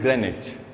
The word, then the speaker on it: Greenwich: it greenwich for so long but the correct pronunciation of this word is greenwich okay remember that write the answer now let